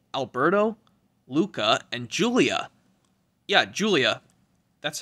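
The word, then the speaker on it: Giulia: it has oh alberto luca and julia yeah julia that's how you pronounce that girl's name and yeah let me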